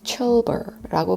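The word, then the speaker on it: Çılbır: 요리 이름은 Chulbur라고 발음을 한대요. 튀르키예 발음으로.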